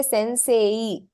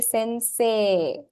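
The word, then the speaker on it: せんせい: that you use so since this e is only for the elongation of say you will not pronounce it as e you will not say Sensei that's wrong it's only there for the function of elongating say so you say Sensei Sensei Sim hi what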